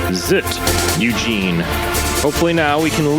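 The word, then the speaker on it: ZZT: be a death sentence the fact that it is not an acronym also confirms that the correct pronunciation really is zit Eugene hopefully now we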